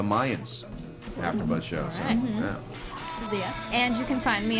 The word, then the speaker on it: Xia: Zia. And you can find me on Instagram and Twitter at. It's spelled XIA_land.